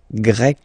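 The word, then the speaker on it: grecque: form GRE feminine form you write them differently but then if you listen carefully gre gre you pronounce them the same way okay Portugal portug portuges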